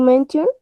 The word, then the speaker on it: mention: to mention Mention. Siempre que vean T-I-O-N, la pronunciación es shion, así. Literal, shion.